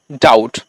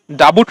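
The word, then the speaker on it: doubt: এটাকে ব্রাঞ্চ বলছি কিন্তু কিছু কিছু ওয়ার্ড আছে যেখানে আমরা কিন্তু বির উচ্চারণটা করি না যেমন ডি ও ইউ বিটি এই উচ্চারণটা আমরা কি করি ডাউট ডাবুট নয় বা এল এ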